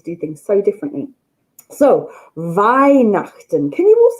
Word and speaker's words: Weihnachten: Weihnachten. And if you see it written down, it'll be spelt with a W. They pronounce their W's as a V.